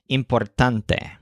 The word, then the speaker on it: importante: with this humans taunts the word importante is a cognate that means important but it stresses the syllable tunt so importante then the human points